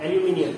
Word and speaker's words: aluminium: हम लोग कहते हैं, इट्स प्रोनाउंस्ड एज एल्यूमिनियम, ठीक है, आर to very good reflectors.